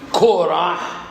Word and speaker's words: Korah: dit qu'il y a 3 parachiotes qui se suivent avec le kouf, qui se prononcent Hukkat, hein? On dit Hukkat, et on dit Korah, et on dit Balak.